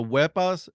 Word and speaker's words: Wepa: When you say us Hispanic, when you say hi or something like that, it's like Wepa, right? Yeah. So you say it like that, like with umph on it.